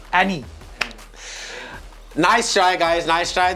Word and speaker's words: Eni: The correct answer is ENI. It rhymes with you. Annie.